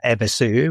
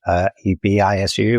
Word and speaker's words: Evisu: U on the end because in Japanese, the U on the end of words is barely pronounced. Slightly altered kind of pronunciation of the previous letter, but it's basically, like, so then you have Evisu, which is Ebisu, which is a god